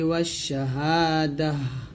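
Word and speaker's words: والشهادة: হা, দাল জবর তাজাতি, ওয়াশাহাদাতি। যদি আমরা এখানে থামি তাটা সাকিন হবে, হা সাকিন। এরকম আলিমুল গায়বি ওয়াশাহাদাহ, এখানে দাতি আছে, আমরা দাহ বলবো।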